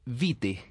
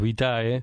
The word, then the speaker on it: Vitae: presidente de la fundación global bite así se pronuncia y fueron si en españa decimos vitae global vitae tienen una mezcla entre latino